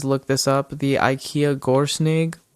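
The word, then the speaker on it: GÖRSNYGG: The IKEA Gorsnig. It is sound it out and spell it SNYGG for the ending, but GORSNYGG on the IKEA website.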